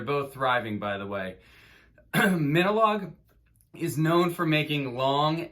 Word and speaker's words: Minilogue: recently that minolog is a combination of the word minimal like minimal music and the word dialogue like an exchange of of words so the correct pronounce pronunciation is minolog and minolog is composed